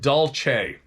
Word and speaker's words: Dulce: light Robbie Martin P.S Dulce is pronounced doce of course it is